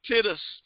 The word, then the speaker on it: Titus: to the book of Titus. Titus. There is no Titus. There ain't no Titus in the book. Hey, Sandra. There's Sandra Inman. Hey, Karen. There is no book of Titus. It's Titus. And it's Job.